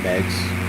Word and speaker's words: Meigs: But in my days of flying Flight Simulator back in the Commodore 64, always started off at Meigs Airport. And that is how it's pronounced, by the way.